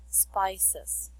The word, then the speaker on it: spices: spice spice spices spices so though do not forget to always read the last syllable okay okay so it's spices okay and question number